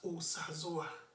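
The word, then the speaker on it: Osazuwa: You quickly check, there's no diacritic under the letter O, so I should pronounce it as Osazoa.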